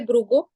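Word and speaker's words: भृगुः: You just say Brugo. Tasyaivam Vadata Shapam Bhrugosa Bhagavan Bhavaha. So when So there is those when the Visarga is followed by Sakara, that Acha, Visarga acha, is not distinctly pronounced.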